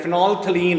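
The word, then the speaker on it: phenolphthalein: लिखण दे विच फिनोलफैथलीन आंदा है, पर यदी प्रोनाउंसिएशन जिहड़ी है फिनोलथलीन है।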